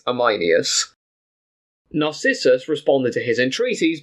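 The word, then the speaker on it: Ameinias: with him called amus it's spelled a m EI i n i u s I think it's amus narcissus responded to his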